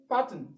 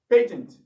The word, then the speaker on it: patent: sound so you have if you say patent you are correct patent you are correct also if you say patent patent you are correct patent you are correct so